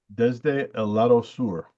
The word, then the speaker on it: Desde el Lado Sur: Commodore, Desde el Lado Sur. I consulted Mr. Nasser, and that is correct pronunciation.